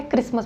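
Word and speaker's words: Christmas: टी है इसमें, T silent है, क्रिसमस बोलते हैं, सो क्रिसमस डिजीज़, ओके।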